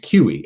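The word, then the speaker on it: CUI: have any sort of confidential unclassified information c-u-i pronounced qe and it's the legitimate term that they use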